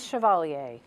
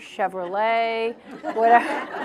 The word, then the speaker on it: Chevalier: my name correctly no my last name is chevalier and people say chevalier chevrolet all that so um it's uh it in in england they tend to a little bit more pronounce it uh correctly because more people there i most people in england have had to learn french at school so they sort of